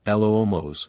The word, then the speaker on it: Lumos: Remember, it's a gentle swish and clearly pronounce L-O-O-Mos, the tiny professor instructed.